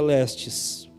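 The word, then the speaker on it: λῃστής: Mas a palavra ladrão, ela vem do grego, guarde bem isso, e ela se pronuncia lestes.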